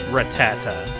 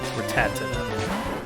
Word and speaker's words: Rattata: know please confusing like how many has are in Rattata I mean for me since I played Pokemon for a while I know it's Rattata but some people call ad like an extra syllable Rattata Raticate but there are